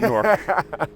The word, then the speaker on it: Newark: It sounds like we It sounds If you ask a Jerseyian, you'll think it's spelled N O R K.